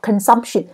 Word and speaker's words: consumption: 是 consumption，好 consumption，记得有 tion 的话，大部分它的中音节就会在 tion 前面这个音节，所以是第二个音节 consumption 消费量。